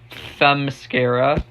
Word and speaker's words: Themyscira: And, the lore of the Themyscira, that's how you pronounce it, was handled well, I think.